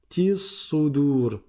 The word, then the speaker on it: بذات الصدور: Ce alif là, on ne le prononce pas parce que c'est un alif de liaison. Comme on ne commence pas la lecture par là, alors on ne le prononce pas. On passe du ta directement au sad parce que le sad est une lettre solaire, donc on ne prononce pas non plus le lem. Tis sudur. Tis sudur.